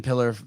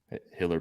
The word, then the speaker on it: Hiller: Uh team, please ban Steven Pillar uh from all of our uh Instagram. No, no, no, no, no, no, no, no. Plyer, sorry, I said your name wrong. Pillar. Hiller.